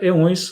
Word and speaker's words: eões: Éons, a pronúncia brasileira, eões, a pronúncia portuguesa.